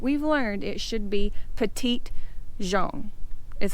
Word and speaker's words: Petit Jean: know but you know we're in the South and everybody calls it Petty Jean but I'm sure it's